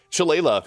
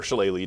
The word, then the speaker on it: Shillelagh: As I mentioned, it's one of the strongest in level 1 because Shillelagh here, or Shillelagh depending on your pronunciation, uses the wisdom for